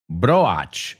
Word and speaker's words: broach: Do they sound the same? Absolutely.